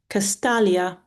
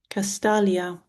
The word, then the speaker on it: Castalia: Castalius um, a river I think um, is pronounced Castalia. Castalia. Nissa.